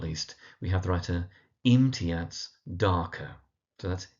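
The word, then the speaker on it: Imtiaz Dharker: And then last but not least we have the writer imiats darker. So that's imat darker. So in imiats is on the im and then darker on the dark.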